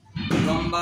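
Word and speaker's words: لام: এই হরফটির নামের শুদ্ধ উচ্চারণ করতে হলে জিহ্বার আগার কিনারা উপরের দাঁতের মাড়ির সঙ্গে লেগে লম্বা আওয়াজে উচ্চারণ হবে এবং উচ্চারণের শেষে দুই ঠোঁটের শুকনো অংশ মিলে উচ্চারণ শেষ হবে।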